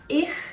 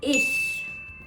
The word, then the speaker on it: ich: the sound in a it's not ich it's not ish it's ish I think it's easier